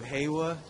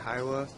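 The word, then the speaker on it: Hyehwa: is the city of hwa I keep pronouncing it hia it's h ye e w h a we're almost up the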